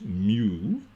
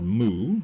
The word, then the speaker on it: mu: I'm not entirely sure where the truth lies on that, but the pronunciation is mu or moo.